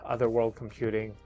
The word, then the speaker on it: Otherworld Computing: Hopefully I've made somewhat sense and the reason why I chose this particular enclosure right here, Otherworld Computing.